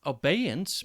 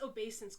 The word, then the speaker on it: obeisance: or something it is it's obeyance maybe no it's obeisance cause look adversary yeah